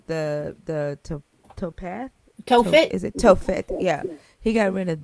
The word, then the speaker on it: Tophet: He got rid of Topath. The Topath. Tophet. Is it Tophet?